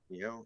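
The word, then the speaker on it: Nioh: Neiho is Neo. How do you say Neho 3? Neo. Neo. Oh, Neo. Neo.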